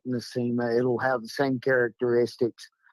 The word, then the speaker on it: Nosema: Nymphsoma, I'm saying it wrong. Nymphsoma. Yeah, it's Nosoma. Yeah, or where you Nosoma, Nosema. Yeah.